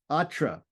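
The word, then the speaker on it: अत्र: Atra. Atra means here. Atra has a short a ending short a initial letter.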